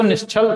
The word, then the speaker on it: निश्चल: दूसरी बात, निश्चल बोलते हैं, निश्चल का देखिए प्रोनाउंसिएशन जो है वो निश्चल सही है, और ये भी एक ही प्रोनाउंसिएशन है, लेकिन यहाँ पे जो सा बनेगा वो ये वाला ना बन के ये वाला बनेगा।